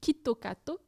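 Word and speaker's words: キットカット: nom donc kit kat en japonais ça se prononce quitte au cateau et c'est ça se rapproche beaucoup de quito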